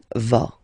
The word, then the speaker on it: vas: Okay, tu vas. Same thing here, final S not pronounced.